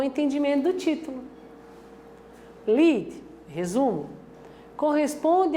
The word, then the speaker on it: lead: A forma original dele é escrita em L-E-A-D. A pronúncia é lead, vem do inglês.